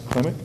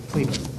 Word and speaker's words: Klima: Clemick? Yep, Klima, yep, How do you pronounce it? Klima. Klima. I said Clemick.